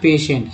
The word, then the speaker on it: patient: एक वर्ड ले लेते हैं पेशेंट, ठीक है, PATIENT, इसका उच्चारण होता है पेशेंट।